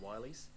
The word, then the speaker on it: Willys: there was a comment recently on the video that featured in that it's not pronounced Willies, it's pronounced Wileys.